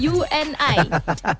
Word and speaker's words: UNAI: disingkat jadi unai betul unai itu sebenarnya Une dibacanya you and i u n i nah